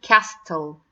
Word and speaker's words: castle: same idea if you are trying to see castle so sometimes I have the silent T coming